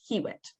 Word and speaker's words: Hywet: So once again, Hywet, but it's pronounced Hewitt in Old English.